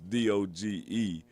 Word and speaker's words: DOGE: Now, as the Department of Government Efficiency, DOGE, as they have on there, or however they want to pronounce it, but it's DOGE.